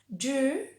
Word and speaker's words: jewel: Entonces esa W del medio no es una U, sigue siendo la combinación E y W, sigue siendo una U larga, y después le ponemos la L del final. Jewel, jewel.